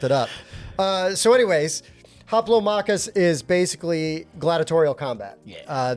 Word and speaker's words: Hoplomachus: And today we are going to do a review of Haplo Makus Remastered. That's exactly how you say it. And I'm confident pronunciation.